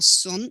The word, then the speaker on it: Seon: qian buddhism migrated to korea as seon or soon it is pronounced to vietnam as tien